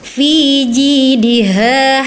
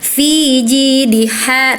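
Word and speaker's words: في جيدها: Harusnya gini. Fi jidiha hablum mim masad. Kakak terbalik nih. Fi jiha tadi gitu kakak. Fi ji diha harusnya fi ji di ha hab. Nah, baru yang keduanya ha kecil gitu ya.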